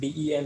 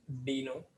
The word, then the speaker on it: Deno: his you know conference he said that how it should be pronunciation so it should be like dino and not den right so in future